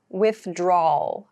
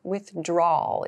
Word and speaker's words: withdrawal: a challenge maybe so we don't clearly pronounce draw wow like that we say with draw o withdrawal withdrawal is how we say